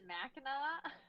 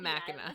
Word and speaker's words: Mackinac: I'll just pronounce it is it Mackinac it's not Machina they tried to like